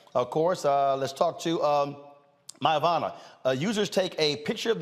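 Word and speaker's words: Myavana: Joining us right now is the co-founder and CEO of Mayavana, Candace Mitchell-Harris. First of all, am I pronouncing it correct?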